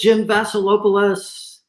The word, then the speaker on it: Jim Vaselopulos: he's my co-host with the leadership podcast it's jim vasilopolis hey how are you hey i love